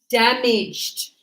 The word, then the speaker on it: damaged: Damaged. No, not damage. Damaged. No, not there. There's no extra sound. It's one. It's like this. You go damaged.